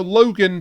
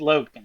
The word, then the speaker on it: Login: Okay, so Logan, but it's spelt Login. It's spelt Login, okay? It is spelled with an I, yes. Yeah. But it is said Logan.